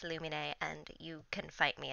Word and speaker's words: Lumine: nine of the luminary comic dub yes it's pronounced illuminae and you can fight me about it honestly